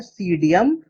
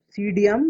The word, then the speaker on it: Psidium: तो यहाँ हमसे पूछा गया है अमरूद का वैज्ञानिक नाम, जो कि होता है सीडियम गुआजावा। सीडियम गुआजावा, मैं यहाँ लिख देता हूँ, यहाँ P साइलेंट होगा। सीडियम PSIDIUM, सीडियम गुआजावा।